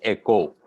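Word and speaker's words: οἶκος: i k o s which in Greece is pronounced as Echo and in Greek language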